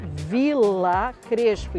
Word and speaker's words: Villa Crespo: É vila crespo. Então V I L L L L L A. O V tem som de B e dois L tem esse somado.